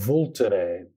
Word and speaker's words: Vulture: great wine area there called volterre spelled like vulture and the wine is